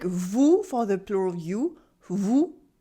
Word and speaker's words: vous: When you pronounce OU, your lips are rounded, your mouth is almost completely closed, OU, and your tongue is in the back, OU.